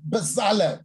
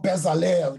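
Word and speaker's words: Bezalel: the bible talks of a guy like bazale you know or bezzale that's how we grew up pronouncing it you see now here's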